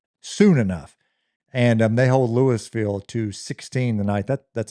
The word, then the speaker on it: Louisville: Starkville at number seven beat Louisville 36 to Did I say Louisville? Like college? That That's a That's a bad mistake. Rookie mistake. Lewisville. And the longer you can drag that out, the syllables, the better.